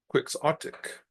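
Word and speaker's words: quixotic: idealistic and impractical and you pronounce it by saying quicksotic.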